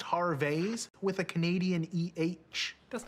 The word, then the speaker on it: Harvey's: i said watch this man i love harvey's actually it's pronounced har vase with a canadian eh that's not how you